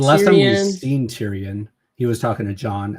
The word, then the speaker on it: Tyrion: Um, Tyr Tyrion. Is that how you say it? Oh, yeah. Tyrion.